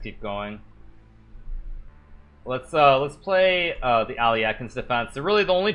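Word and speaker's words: Alekhine: It's pronounced like Aliekin or something if you speak Russian. I don't speak Russian. I only speak American, so I just say like Alekin. It's like Aliochin or something.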